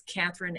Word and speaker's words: Kathryn: are holding you back um my website is Catherine com and it's spelled ka th r YN and then